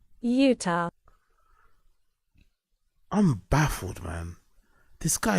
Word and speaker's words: Utah: Plan B out in Utah, like YOUTAWL. Honestly, bro, that has to be brain damage, man. Someone needs to ask him about, like, why do you add letters to something? Like, how could you pronounce Utah like that when it's meant to sound like this? Utah.